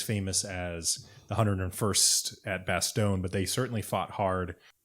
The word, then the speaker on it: Bastogne: the audiobook version and they don't say bastogne in the audiobook they say bastogne which i think might be the correct way of pronouncing it in like belgian but like i don't